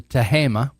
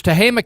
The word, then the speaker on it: Tehama: It's actually Tehama, as we pronounce it, although it looks like it should be pronounced Tehama. But it's Tehama County.